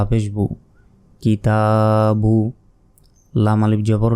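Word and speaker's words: الْكِتَابُ: পেশ কিছু নেই তাই এই আলিফের উচ্চারণ আমরা করিনি ওটা বাদ প্রশ্ন আসতে পারে তাহলে এটি দিয়েছে কেন এটি আসলে এই অর্থের কারণে এই যে শব্দ এই শব্দের অর্থের জন্য এই আলিফটা দিয়েছে কিন্তু এটা উচ্চারণ হবে না তারপর কাবের কি তা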